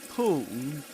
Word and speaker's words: pulled: And in pulled, the hitchhiker down and pulled over. and pulled over, and pulled over. Again, the ending is pronounced as d, d, d, d.